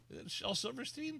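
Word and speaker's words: Shel Silverstein: Shell Silverstein.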